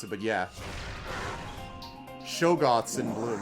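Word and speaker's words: shoggoths: true lone wolf well i think it's she gots is how they pronounce it but yeah shogoths in bloom right there's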